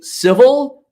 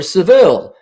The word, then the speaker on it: Seville: It is, Christoph, you can say civil or Seville. The British say Seville. I've been saying Seville since I've been here. If you don't believe me, go watch Father Goose, and it's Trevor Howard. Now, Walter, be Seville. It's both.